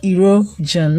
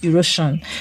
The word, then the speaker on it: erosion: If the letter that is before the SION is a vowel letter, you're going to pronounce the S as J. So the word is decision. The word is erosion, not erosion.